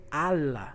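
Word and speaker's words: الله: deus na cultura islâmica mas eles não falam elo a pronúncia de hoje é ala ala ala houve uma modificação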